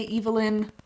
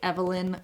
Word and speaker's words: Evelyn: I don't usually say 'eve-ellen,' as an American I typically say 'ev-ellen,' but I'll go ahead and say 'eve-ellen' because that's how I keep hearing pronounced.